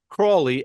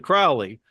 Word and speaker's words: Crowley: were using the pronunciation, the Cork, I think, pronunciation of Crawley as opposed to Crowley. And most are saying Crowley.